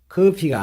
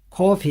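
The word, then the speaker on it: coffee: you like your coffe 커피는 영어 발음이 커피가 아니고 코피 합니다 코피 자 그러면은 응용입니다 당신의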